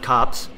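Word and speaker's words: Copse: head to the huntsman's cops and it is pronounced cops uh I Googled it and Google told me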